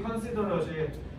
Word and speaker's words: considerate: 그래서 at 발음을 형용사일 때는 it라고 해야 돼. 이거 안 하면 너네 듣기 안 들려. 그래서 특히 considerat이 have considered of you 이러면 와 너 진짜 자상하다는 뜻이거든. 근데 그 considerat이 안 들려. considerate라고 읽으면 알겠지? 그래서 이거 뭐야?